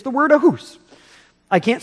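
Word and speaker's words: אחוס: It's the word ahus. I can't spell it for you.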